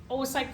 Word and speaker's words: oocyte: So let's talk a little bit about these further then this term oasite o O c y t it's pronounced the two o's are oasite production oasite is the technical name for what